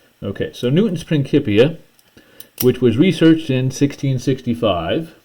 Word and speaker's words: Principia: is in Latin and Latin didn't have a soft c sound the c was sounded like a k so that's why i'm pronouncing it that way okay so Newton's Principia which was researched in